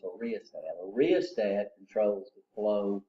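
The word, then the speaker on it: rheostat: It's a riostat. A riostat controls the flow of current. So what's the function of a potentiometer? Huh? R asking me to spell something. Rh. So the h is silent.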